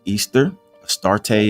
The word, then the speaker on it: Ishtar: She was called Ishtar, pronounced Easterarte in English.